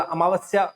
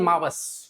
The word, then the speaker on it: अमावस्या: अमावस को अमावस कोई नहीं बोलता, अमावस्या वैसे तो शुद्ध शब्द है पर उसको अमावस बोल देते हैं, या तो है ना, थोड़ा अगर हिंदी में बहुत सही तरीके से, या केवल मावस, है ना, ए साइलेंट हो जाता है, ए गायब हो जाता है, मावस ही बोलते हैं अपने, है ना।